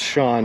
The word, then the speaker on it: Sean: sean it is pronounced shawn sg snip it's just the irish way the gaelic way of uh spelling it makes more sense where